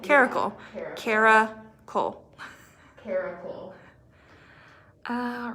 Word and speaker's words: Caracal: And you pronounce it like Caracal.